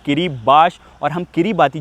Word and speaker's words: Kiribati: किरीबाती लिखे रहते हैं भाई लेकिन उसको प्रोनाउंस करते हैं किरीबाश और हम किरीबाती जो कि दुनिया का सबसे रिमोट कंट्री है उसके सबसे रिमोट आइलैंड पे जाएंगे।